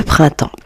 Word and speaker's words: printemps: Le printemps. Alors, le printemps va se dire temps. Temps. Voyez les amis, le P et le S sont des lettres muettes.